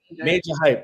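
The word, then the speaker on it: Majah Hype: I understand how it's spelled, but I think he's pronounced Major Hype, right?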